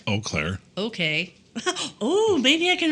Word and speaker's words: Eau Claire: I don't know how you pronounce it, but I know how to spell it. It's Eau Claire.